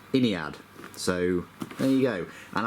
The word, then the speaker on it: Ynnead: Um, but I've since taken a lesson in uh Games Workshop's vocabulary and it is actually pronounced Iniad.